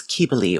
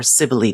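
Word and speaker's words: Cybele: priestesses of the goddess keebley or Sibley depending on how you want to say it cubely is closer to the Latin so I say it like that and um she's an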